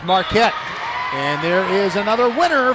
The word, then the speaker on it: Marquette: She doesn't spell her last name like Dwayne Wade's alma mater, the one in Wisconsin, Milwaukee, but it's pronounced Marquette.